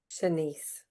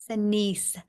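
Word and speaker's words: Shanse: Senise. Senise.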